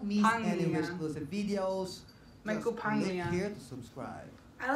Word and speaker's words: Michael Pangilinan: I can finally learn how to pronounce What's it. What's up, Wishers? This is Michael Pangilinan. Don't miss any Wish exclusive videos. Michael Pangilinan.